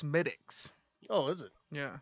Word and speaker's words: Smithwick's: out i googled it checks out um it's pronounced smitics oh is it yeah i thought it's smithwick's yeah but smithwick's red ale irish made so it's smittyx pronounced smitics i drank that one before and it's pretty